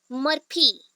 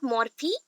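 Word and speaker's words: Murphy: John मर्फी, नॉट मॉर्फी, मर्फी, John मर्फी। याद नहीं आ रहा ना, इमेजिन कर लेना, बर्फी, ओनली स्पेलिंग चेंज करना, ओके।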